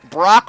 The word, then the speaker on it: Brock: her name is misty Brock rhymes with rock his name's freakin lieutenant